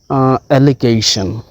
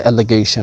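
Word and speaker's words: allegation: or accused ওকে এরপরে অ্যাললিগেশন এটা হচ্ছে এলেজ আর এই হচ্ছে অ্যাললিগেশন যখন নাউনটা হয়ে যাচ্ছে তখন এখানে গ এর মত উচ্চারণ হচ্ছে এই জিটা আর এখানে কিন্তু জিটা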